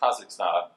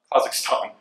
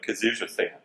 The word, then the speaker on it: Kazakhstan: of the countries and it is in fact Kazakhstan Kazakhstan not you know kazuza stand um so we we